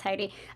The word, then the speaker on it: Heidi: a hand raise uh haiti so sorry if i mispronounced your name yeah no that's fine it's heidi um actually i do